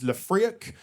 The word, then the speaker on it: Le Friec: called Freak is because my surname is Leafriak, commonly mispronounced for freak.